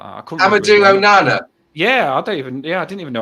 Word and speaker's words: Amadou Onana: Amadou Onana.